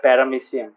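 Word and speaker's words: paramecium: silent ওকে গম পাইছা আৰু এটোক কয় প্যারামিচিয়াম o is silent again গম পাইছা নে yes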